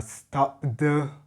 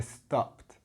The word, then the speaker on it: stopped: a difference in pronunciation you don't say stoed or stopped you say stopped so it actually sounds like a t at the end right and you'll notice